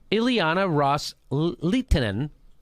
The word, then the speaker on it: Ileana Ros-Lehtinen: So Kerry reiterated to that offer that the Saudis and the Qatar, the Sunni Arab states had made to Representative Ileana Ros-Lehtinen, that's how you say her name, quote, with